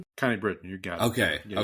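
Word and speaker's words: Connie Britton: Connie Britain.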